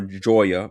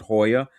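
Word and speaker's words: Jaya: Cirque du Soleil in like down there called Hoya or Joya, but they pronounce it Hoya, and it has if you want to you can do like the dinner and the show experience.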